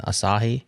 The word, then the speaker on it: Asahi: me tell you about aahi Linux is that how you say it Justin Asahi Asahi Asahi Linux which is an